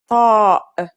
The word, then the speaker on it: طاء: It kind of sounds like the T in the name Tom. When you pronounce it, try to constrict your throat like you did with صاد.